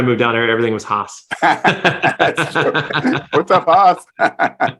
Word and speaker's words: Haas: Is it Haas? It's Haas, yeah. Haas. It's, yeah. Texas, when I moved down there, everything was Haas.